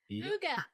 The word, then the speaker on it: Hygge: from Quebec, Canada, Kerri and Phillipe with Experiences Hygge, right? Hygge. Excellent. We were just talking about how to pronounce that.